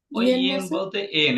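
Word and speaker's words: 円: এন মানে এন Japanese মুদ্রার একক এমনি পারবেন এন এন উচ্চারণটা এন তারপরে ঢাকা শহর মান সম্মান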